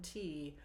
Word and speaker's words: tea: green heisen tea or as the song pronounces it te which I believe is how people back then said the word tea the way the Irish still do have a cup of tea.